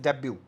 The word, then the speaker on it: debut: यहाँ पे भी एक वर्ड आपको दिखेगा जो जिससे आप मिले जानते हैं पहले, दैट इज डेब्यू, है ना। डेब्यू को हम स्पेलिंग है DEBUT, डेब्यू, that means the first performance of an artist.